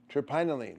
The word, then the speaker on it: terpinolene: talene that is 10 what turine terpinolene terpinolene turine no terpinolene no terpinolene is 10